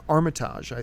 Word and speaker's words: Armitage: And Richard, I always mispronounce his name, but Armitage, I believe is how you pronounce Richard's last name.